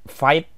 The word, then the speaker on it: Vite: Yang pertama, untuk membuat Vue dengan cara single file komponen, kamu harus menggunakan alat bantu seperti Vite namanya, atau bacanya Vite.